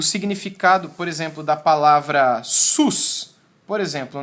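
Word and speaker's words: סוס: temos um consoante s o segundo consoante som de w e o último consoante o som de s mais uma vez Ah e essa pronúncia SUS é que dá e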